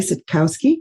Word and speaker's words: Sitkowski: Today, I am thrilled to have with me a friend and colleague that I've known for many years, Sitkowski. Am I pronouncing the last name right?